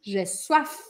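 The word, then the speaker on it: soif: minha boca aberta jefam e sede gesso a sua filha termina com f gesso a injeção gesso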